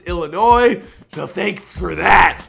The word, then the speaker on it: Illinois: He also explained to me how to properly pronounce Illinois, so thanks for that. I didn't know the S was silent.